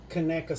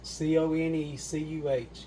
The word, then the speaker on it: Conecuh: Hey y'all, I wanted to come back for just a second to show you this Conecuh sausage for those of you who don't live around here.